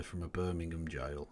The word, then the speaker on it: Birmingham: I know the point you're making there, the letter from a Birmingham jail. And yes, I pronounced Birmingham correctly there. Alabama, you are wrong.